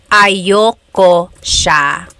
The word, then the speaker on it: ayaw ko siya: That's another thing with pronunciation. Usually it's pronounced ayoko siya. So if you want to sound a little bit more natural, you put everything together, ayoko siya. Ayaw ko siya is ayoko siya.